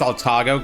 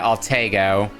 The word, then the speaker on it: Alago: Oh, was it pronounced Alago? God damn it. I was pronouncing it the wrong way all this time in E7. Was pronouncing it algo.